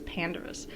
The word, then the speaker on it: Pandarus: but I think it's Pandarus. I think you're supposed to emphasize that first syllable.